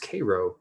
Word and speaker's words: Cairo: illinois it is spelled cairo but it is pronounced cairo illinois um and to get there i literally